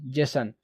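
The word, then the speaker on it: JSON: जे एस ओ एन जसन। ठीक है? जैसोन बोलते हैं।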